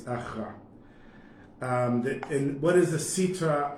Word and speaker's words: achra: Instead of, it's written here achara, but it's achra.